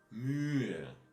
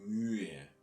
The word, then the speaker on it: Mühe: And here again this extra position of H in between two vowels, Ü and E. So you again have to slide a bit over it and breathe it out a little bit. So die Mühe.